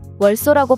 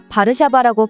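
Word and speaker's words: Warszawa: 깜짝 놀라곤 한다고 합니다 왜냐하면 다른 나라들은 바르샤바의 영문식 발음인 월소라고 발음하지만 한국만 거의 유일하게 바르샤바라고 발음하기 때문이죠 사실 이건 한글만의 과학적인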